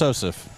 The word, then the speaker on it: Sosif: See, you try to put another syllable in there too. Just Sosif.